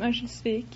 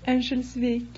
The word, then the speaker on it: Örnsköldsvik: No, I'm from Örnsköldsvik. What was that? Örnsköldsvik. Could you spell that for the audience?